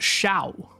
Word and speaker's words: Xiao: Xiao is pronounced Shao.